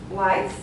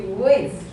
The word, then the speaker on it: width: And there are some pronunciation issues, like you have been reading whites, right? It should be width.